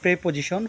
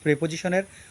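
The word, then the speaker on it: preposition: তো চলুন আমরা এই সকল প্রেপোজিশনের অর্থটা বা ব্যবহারটা জেনে নিই। অনেকে ভুলবশত প্রিপোজিশন বলেন, কিন্তু সঠিক উচ্চারণ হবে প্রেপোজিশন।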